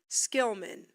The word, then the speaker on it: Schillman: Gabe Skilman, please say hello.